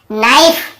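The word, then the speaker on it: knife: नाइफ, यहाँ पर भी के को नहीं पढ़ेंगे।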